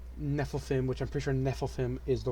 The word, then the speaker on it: Nephilim: the Giants and Nephilim which I'm pretty sure Nephilim is the right pronunciation and it's just the yeah it's the